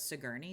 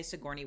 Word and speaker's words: Sigourney: because for some reason my brain says sigy which is not how you say Sigourney Weaver's name it's also weird because when I say Sigourney Weaver like I say